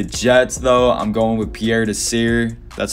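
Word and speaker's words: Pierre Desir: right now the jets though i'm going with pierre to sear that's how you say it he's leading the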